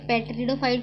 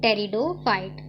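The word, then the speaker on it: Pteridophyte: पेट्रिडोफाइट को मत पढ़ना, ये पी साइलेंट में होता है, अपने को क्या पढ़ना है, टेरिडोफाइट।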